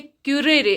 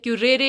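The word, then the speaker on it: currere: जिसका Latin word से क्यूरेरे. आप किसी भी तरह से इसको प्रोनाउंस कर सकते हैं, क्यूरेरे या क्यूरे, विच मीन्स टू रन और रनवे.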